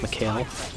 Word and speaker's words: Mikhail: for the time being i might accidentally pronounce michael's mikael simply because whenever i see that name my brain immediately goes to pronunciation in the kyle even though in this game it's pronounced mikhail so uh yeah that's